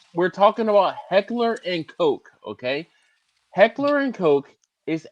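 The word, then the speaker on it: Koch: And when we say 18K, we're we're talking about Heckler and Coke. Okay. Heckler and Coke is a German firearms manufacturer. Thought it was cop.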